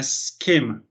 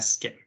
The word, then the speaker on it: schema: Un error muy común que cometemos nosotros como hispanohablantes es que siempre que tenemos una palabra en inglés donde está la S, le ponemos una E, ¿sí?